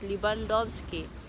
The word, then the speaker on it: Libandowski: So the letter W is pronounced as V as in victory. So it's Libandowski.